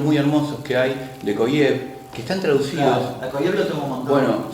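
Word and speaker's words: Kojève: Hegel es un autor muy complejo y las clases que da, se escribe Kojeve, no con J, Koyev, es espectacular.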